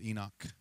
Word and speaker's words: Enoch: The proper pronunciation, I believe, is Enoch.